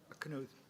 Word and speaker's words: Knuth: Do I pronounce it correctly? Knuth.